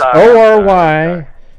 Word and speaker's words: Oregon: No, it's Orygun. Okay, Oregon, just like that. Oregon. Nope, Oregon. Okay. Like you're saying Oreo, right? But you go Ori and then gun.